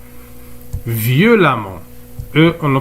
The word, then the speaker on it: violemment: dans l'eure adverbe par exemple violon il devient violemment violemment eux on ne prononce à méchant il devient méchamment alors les